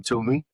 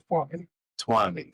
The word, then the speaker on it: Tuomi: And today I have with me Tom Tumi. Did I pronounce that correctly? Twami.